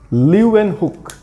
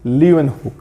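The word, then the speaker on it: Leeuwenhoek: Spelling को ध्यान से देखना, लीवेनहुक, LWENHOEK, लीवेनहुक. तो उन्होंने फर्स्ट टाइम, वो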